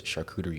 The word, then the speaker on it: charcuterie: There was charcuterie involved. Ooh. Did I pronounce that correct?